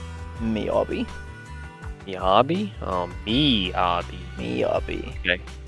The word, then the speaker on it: Miyabi: Miyabi.